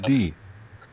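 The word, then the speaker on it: Gaddi: tribe of Joseph, namely the tribe of Manasseh, Galdai. You know what? I don't know how to pronounce that, so let's go take a look what the Hebrew pronunciation is. Gadi.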